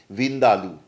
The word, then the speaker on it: Vindaloo: আলো থেকে হয়ে ওঠে ভারতীয় উচ্চারণে ভিন্দা আলু যদিও এর শেষ অক্ষরটুকুর উচ্চারণ আলু কিন্তু এর সাথে আমাদের পরিচিত আলুর কিন্তু কোন সম্পর্ক নেই যদিও অনেকে এই ভুলটি করেন এবার পরিবর্তনের কিন্তু এখানেই শেষ নয়।